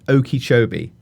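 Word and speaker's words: Okeechobee: So Lake Oki Chobee as now we all know how to say it properly.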